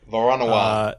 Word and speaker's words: Voronoi: How do I pronounce it? Yeah. Yep. Voronoi.